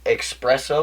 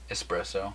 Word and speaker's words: espresso: Okay, espresso or espresso? Espresso. Yeah, espresso. Yeah, I don't pronounce the X.